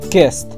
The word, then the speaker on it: kissed: Bien, recuerden que no es kiss, sino kissed. Kissed. Y la D es muy leve y se pronuncia bastante rápido.